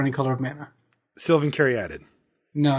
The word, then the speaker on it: Caryatid: I know that's the dictionary definition, but everyone says sylvan caryatid. I believe the pronunciation is sylvan caryatid.